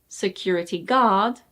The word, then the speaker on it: security guard: And it's not security guard, it's security guard. Security guard.